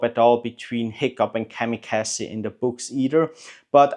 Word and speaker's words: Kamikaze: it's written a little bit different than like the Japanese, those fighter pilots from World War II, kamikaze fighter pilots. But it sounds exactly the same when you pronounce it.